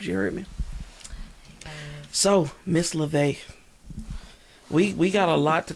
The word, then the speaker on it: Luvé: I said. I thought that was unique. I liked it. And then I told everybody, yeah, this is Miss Love. Butchered that. It is Luvé.